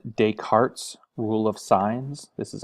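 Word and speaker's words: Descartes: another concept it's called dayarts Rule of signs this is a French word it's just day cart you don't pronounce either of these s's uh so we've got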